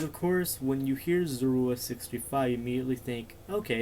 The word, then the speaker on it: Zorua635: Because one reason I would like to change it is because every time I do my intros like Zorua, like, hey everyone, Zorua635 here.